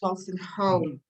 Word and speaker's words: Wolstenholme: Is it Wolstenholme? Really? Wolstenholme, yes. Wolstenholme. It's a no, not a you.